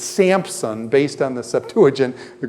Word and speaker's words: Samson: Samson when I say how many of you say samp some and put a pea in your Samson does anybody put a pea in their Samson that's actually you guys are working from the Greek Septuagint you didn't know it is Samson named gotta pee in